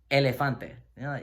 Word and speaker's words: elefante: So, All right, so Oh, as in, practice word, elefante, which is elephant. Sounds like the English elephant.